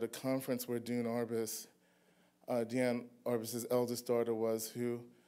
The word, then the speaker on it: Diane: I pronounced Diane, the way her mother preferred, the French pronunciation, because she was a little pretentious.